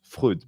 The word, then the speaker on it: Freud: specific to Freud, that I'm going to pronounce Freud because that's what we say in French.